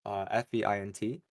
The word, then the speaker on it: Feint: Vagrant by Fint and Vila, I think. Feint and Veela.